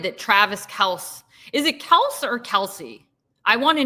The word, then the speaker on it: Kelce: And so now I feel like I'm pronouncing it right when I say Kelse, but I hate him, so I want to pronounce it wrong.